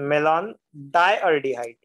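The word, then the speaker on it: malondialdehyde: Pronunciation थोड़ा difficult है। मेलॉन, yummy L ओ एन, मेलॉन डायल्डिहाइड, डायल्डिहाइड, मेलॉन डायल्डिहाइड।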